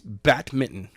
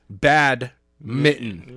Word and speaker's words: badminton: By the way, it's badminton. Badminton. Yes, not bad mitten.